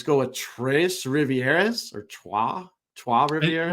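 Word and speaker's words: Trois-Rivières: Let's go with Tres Rivieras or Trois Rivieras. Well, Tres Rivieras would be the Mexican way to say it. I think it's whatever the French pronunciation.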